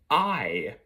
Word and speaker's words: Ay: now let me explain I is the way you pronounce his name it is spelled a y i if any of you